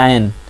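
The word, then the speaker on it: عین: दोनों आ की आवाज़ देते हैं, लेकिन आयन में क्या होता है, उसका उच्चारण थोड़ा अलग तरीके से होता है, जो आवाज़ निकलती है, साउंड निकलता है, वो गले से निकलता है, आ करके, ठीक है जी, थोड़ा सख्त होके।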